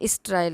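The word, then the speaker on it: sterile: के जो ये सॉरी यहाँ पे ये बाज नहीं है, ये स्ट्राइल है। ये हिंदी में इसका जो प्रोनाउंसिएशन है ये गलत आ गया ना, तो ये ना करके आप स्ट्राइल करें।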